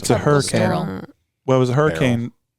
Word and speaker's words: Beryl: Barrel. Well, it was a hurricane. Barrel, right? Yeah. Yeah. Barrel. What the hell kind of name is Barrel? So it turns out it's spelled Beryl.